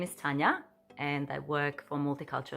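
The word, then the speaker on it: Tanja: because I'm from Croatia so my name is pronounced Tanya and it's filled with a j t a n j a so that's a big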